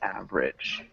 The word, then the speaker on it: average: then we're looking at average average average close just two syllables oh it uh it sounds like average yeah no you're still saying it with three syllables so we want to